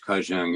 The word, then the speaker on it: Qacung: And when I was talking to Kajung, his name is spelled, by the way, Qacung, which Kajung, his Americanized name is Stephen Planchette.